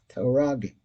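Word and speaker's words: מקטרגים: Because when a person keeps the bris, zoicher shenishmaso nitzelis mehametargim, metaragim. That's the right way to say it.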